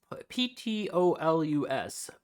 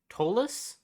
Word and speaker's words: Ptolus: I've been told that Planebreaker would be one of my go-tos to do this, which is Ptolus. Tolus? I believe the P is silent.